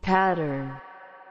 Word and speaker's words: pattern: Então, só pra concluir, a pronúncia correta é pattern.